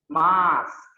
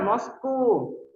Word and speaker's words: mosque: Mosque. Gampang bacanya. Mosque. Nah, itu ada letupan ke-nya sedikit. Mosque. Nah, itu. Jadi bukan Moscow. Mosque. Salah ya. That's totally wrong. Yang benar adalah mosque.